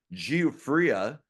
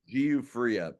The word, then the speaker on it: Giuffria: And in 1986, the band, hopefully I pronounce it right, Giuffria, I would say Giuffria. Some people say Giuffria, Right.